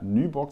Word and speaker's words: Nyborg: Heute bin ich zu Gast bei der Nyborg Distillery. Am I pronouncing that correctly? Yes, it's correct.